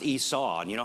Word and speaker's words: Esau: His name is pronounced Esau, and you know how you can remember that?